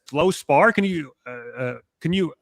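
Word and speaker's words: fluorspar: me I was like how do you even pronounce that? It's Flow Spar.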